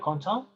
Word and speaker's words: content: Recuerda que hay letras que no se pronuncian a pesar de que estén escritas, ¿sí? Por ejemplo, el ENT que está al final, ¿sí? De content, ¿sí?